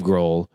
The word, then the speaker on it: Grohl: Dave Grohl, genius. Yeah. Do you think that's... The H is silent also in that.